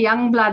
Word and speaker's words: Youngblood: your last name well I just say Youngblood it's a Dutch name you meant to say young blutch but when I say that people don't understand it or they don't know how to spell it and please say Young Blood okay like that so I've